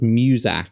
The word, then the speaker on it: Muzak: Elevator music is called Muzak. It's spelled M-U-Z-A-K.